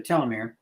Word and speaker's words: telomere: Now, there's some genes that are similar to a telomere, pronounced different ways, by the way. I like telomere because the word telescope is tele, which is what we're looking at.